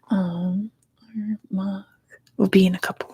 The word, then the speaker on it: Armagh: You don't pronounce the G. I thought it was like a guttural, like Armagh, like that. Help me out while you're here. While I have Armagh, there's no guttural.